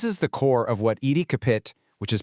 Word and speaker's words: EDCAPIT: This is the core of what Ed Capit, which is pronounced EDC capit, is all about.